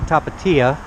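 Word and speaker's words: Tapatía: got it wow so I've been informed that it is pronounced me Tapatia the Tapatia I think I said that right and it is actually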